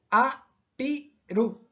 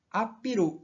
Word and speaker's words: apiru: e que se pronuncia como U. Então fica A-P-R-U, apiru, apiru.